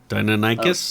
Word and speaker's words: Deinonychus: I can't even pronounce it right. Dionychus. Deinonychus?